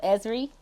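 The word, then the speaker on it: Ezrie: got it okay Ezra no it's like Kyrie with a EZ in front of it oh it's kind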